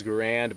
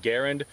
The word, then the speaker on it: Garand: with uh the m1 garand uh the military pronunciation was grand but john garan's name he himself said it was pronounced uh garend so tomato tomato same thing if you want